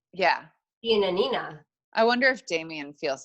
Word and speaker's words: Giannina: on Love is Blind, G and D, or Giannina. You said it right. Okay, yes, and Damian. We were worried we were going to say it wrong. Giannina.